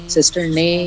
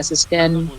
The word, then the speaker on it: cistern: Actually वो pronunciation सिस्टर ने हो रहा है NAE Yeah, लेकिन आप उसे cistern सिस्टर ने या सिस्टन दोनों बोल सकते हो आप उसको.